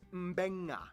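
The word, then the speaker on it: Mbengga: And this word is pronounced Mbenga.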